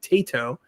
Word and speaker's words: Taito: Taito.